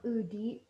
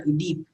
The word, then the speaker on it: Udeep: Pronounce it Udip. Udeep. I'm sorry. I didn't really mean to. Okay, but yeah, Udeep.